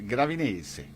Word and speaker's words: Gravinese: But of course, the English or the American pronunciation is Gravinese, but in Italian you would say Gravinese.